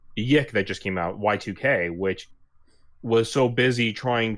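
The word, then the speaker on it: YIIK: It's supposed to be pronounced Y2K, but everyone calls it Yick.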